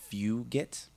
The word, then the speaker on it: Fugit: But to the chat, I believe the correct pronunciation of Cutter's name is Fugit.